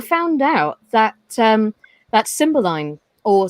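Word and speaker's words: Cymbeline: series um i found out that um that symbol line or symboline depending on the uh or the variations of it depending on which part of the country you live in some pronounce it symboling which is more traditionally how it's pronounced but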